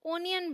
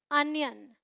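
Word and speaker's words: onion: प्याज को ज्यादातर लोग ओनियन बोलते हैं, जो बिल्कुल गलत प्रोनाउंसिएशन है। आपको क्या बोलना है? अनियन।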